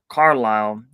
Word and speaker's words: Carlisle: I know I can't you're not supposed to pronounce the S Carlisle by uh performs the